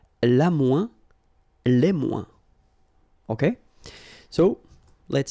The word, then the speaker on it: moins: ouin, ouin, okay, and we don't pronounce this final S. Le moins, la moins, les moins.